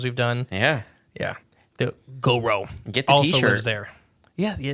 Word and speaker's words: Gowrow: goo the goo go now it's spelled g o w r o w So when you say it you got to say it like with the Goo Goo Goo yeah so Arkansas Goro Bardo Martius korus oh